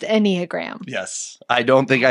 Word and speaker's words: Enneagram: is pronounced Enneagram.